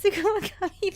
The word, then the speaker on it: Tsukumogami: Was just double checking on your pronunciation. Of what? Lute? No, it's Tsukumogami, but you're good.